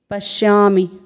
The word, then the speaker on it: पश्यामि: प है, फिर अर्धवर्ण है तालव्य श का, फिर पूर्ण वर्ण य में आ का स्वर है, फिर म में ह्रस्व स्वर है, पश्यामि।